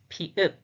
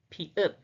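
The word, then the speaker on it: 피읖: The pronunciation is pa, pa, pa. The name is pi-up, pi-up, pi-up, pi-up, pi-up.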